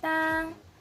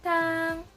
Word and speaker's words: 汤: So as you can see, it has the first tone or the dash, the one that looks like a dash. So we're gonna sound like ah, ah. So we're gonna pronounce it as tang, tang.